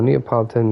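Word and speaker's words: Neapolitan: I'll take your word for it okay no neopolitan is the the way you pronounce it okay so then custard squares then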